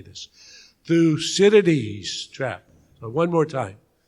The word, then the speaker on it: Thucydides: unison so you know how to say this through cities trap so one more time through cities trap